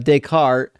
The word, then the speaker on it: Descartes: I mean uh decart is how people pronounce it in English.